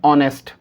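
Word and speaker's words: honest: हमारा रूल हमको ये बताता है कि ओ से पहले एच आएगा तो एच साइलेंट होगा। तो हम इसे क्या पढ़ेंगे? ऑनर। इसे हम क्या पढ़ेंगे? ऑनेस्ट।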